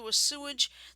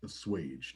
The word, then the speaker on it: assuage: haven't been able to assumage the concerns of companies unwilling to do business with a toxic enabler surely yes i think that word is pronounced assuage not a sewage yeah a swage oh